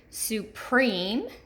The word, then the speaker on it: supreme: And this states that the accented syllable for words with the E consonant E pattern is the second syllable. So let's look at these 2 examples. Supreme, supreme, and complete.